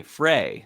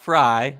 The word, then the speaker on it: Frey: Uh and it was founded by Colby and Ashley Frey, not Fry. I know people that that have the same spelling and they go by Fry, but this is Frey.